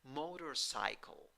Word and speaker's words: motorcycle: The first syllable is the stressed syllable, but the third syllable has secondary stress. And in the first syllable, you have O with a hat that sounds like O. In the second syllable, you have schwa. In the third syllable, you have I with a hat. It sounds I. In the fourth syllable, you have a schwa. It sounds Pronunciation: motorcycle, motorcycle, motorcycle.